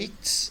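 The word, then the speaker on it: ἰχθύς: É a palavra ictus ou ictis, né? As duas pronúncias são possíveis, pode ser ictis ou ictus. Prefiro ictis. O primeiro caractere, a primeira letra aí, é a primeira letra do nome Jesus.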